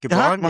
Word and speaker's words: Gibran: Uh, Gibran, right? Am I pronouncing it right? Yep, Gibran?